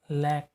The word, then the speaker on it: lakh: जो 4th है ये लैख, ठीक है, लैख या लाख, आप जो भी रीड कर सकते हैं, दोनों प्रोनाउंसिएशन सही होते हैं इसके।